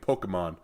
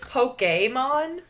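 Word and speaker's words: Pokémon: supposed to pronounce Pokemon I think it's Pokemon you know it's got like a little accent over the E like a poke Bowl yeah yeah that would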